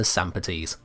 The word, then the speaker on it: Sampotes: Lastly, we have the Sampotes. Again, I'm sticking with a roughly Greek style pronunciation like with the Azothane.